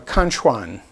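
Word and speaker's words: Conxwan: bank offered by uh i'm going to pronounce it conchone c-o-n-x for the and w-a-n for the juan so kanchuan store and it is in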